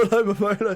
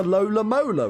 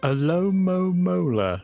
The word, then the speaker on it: Alomomola: I think that's a perfect name for Alomomola, because the amount of times everyone pronounces it wrong. Like, it's a Lola Mola, right? Yeah, Alomomola. It's Alomomola. Alomomola.